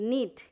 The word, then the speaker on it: knit: उसी तरह से नीट, के साइलेंट है, NIT, नीट, KNIT, नीट, नीट का मतलब है स्वेटर बुनना, उसको नीट कहते हैं।